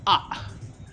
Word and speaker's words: AER: The pronunciation is "ah". The English spelling is AER.